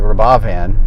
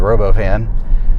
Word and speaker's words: Robovan: and um and then Elon was talking about the the rav van as opposed to the robo van which I thought was kind of a funny but you know that he was mispronouncing it intentionally to kind of make